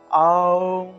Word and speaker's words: ওম: হয়ে যায় আমাদের এই ওম উচ্চারণের নিয়ম হলো মুখটা একদম বড় থেকে ছোট হবে অর্থাৎ মুখটা একদম হা হয়ে থাকবে তা যেহেতু আমাদেরকে মুখটা একদম বড় করতে হবে সেহেতু মুখটা বড় করলে আসলে আ উচ্চারণটা আসে সেজন্য আমরা আ দিয়ে আরম্ভ করব ওম ঔম এভাবে তাহলে ওম বৃন্দা বৃন্দাবই